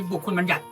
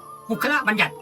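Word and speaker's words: บุคคลบัญญัติ: ที่ 4 คือ คัมภีร์ บุคคล บัญญัติ หรือ เรียก ว่า ปุคคล บัญญัติ อย่า นี้ ก็ ได้ นะ ครับ เรียง พยางค์ ว่า ปุคคล นะ ถ้า ไม่ เรียง พยางค์ ก็ อ่าน ว่า บุคคล บัญญัติ นี่ คัมภีร์ ที่ 4 นี่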